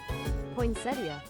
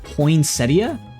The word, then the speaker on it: poinsettia: Pronunciation. Hold on. I need to let you guys in on this. Poinsettia. Oh, did I say it right? Poinsettia. Poinsettia.